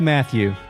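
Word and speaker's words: Mathiu: a fellow called matthew i'm going with matthew m m-a-t-h-i-u i hate the way this is spelled yeah it makes me upset yeah i used to always say when i was like when i was younger i would call him mathieu just because i didn't want him to be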